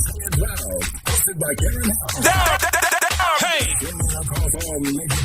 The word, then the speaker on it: CannaNurseheal: CannaNurseheal, yes.